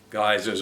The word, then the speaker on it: geysers: the hot pools and the geysers or geezers depending on how you pronounce the that term so although